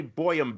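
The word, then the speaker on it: Bøyum: cool and that's Randy boam B Yu M just so you spell that correctly it's like goam except he's Norwegian so it's boam and uh and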